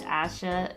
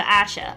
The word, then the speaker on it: Asha: See, the actual pronunciation is Asha as X makes a sh sound in the language.